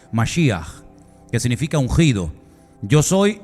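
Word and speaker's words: משיח: significa la palabra Cristo Cómo se dice Cristo en hebreo Ya lo hemos enseñado un millón de veces masia que significa ungido Yo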